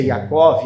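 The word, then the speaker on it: יעקב: Jacó, a palavra Jacó do original que se pronuncia Jacov, Jacov, eh pelo original significa aquele que nasceu agarrado ou aquele que agarra para nascer.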